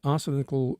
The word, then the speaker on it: arsenical: Discovery reveals arsenical, is that the way to pronounce it, Rupert?